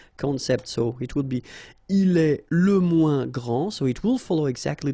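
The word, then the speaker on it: grande: you don't the day here and you don't pronounce the final s okay so gr and then same thing here gr and regarding the feminine form you will pronounce it Grand okay don't insist on the final but then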